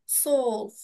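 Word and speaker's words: zwölf: কে বলবো সোলফ সোলফ যেহেতু উমলাউট আছে সেহেতু স্পেলিংটা একটু এরকম উচ্চারণ হবে সোফ সোল্লফ ক্লার সবাই ওকে ওকে এগুলো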